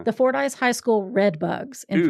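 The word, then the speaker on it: Fordyce: so sweet and the how do you say say for ice for ice yeah the Fort ice High School red bugs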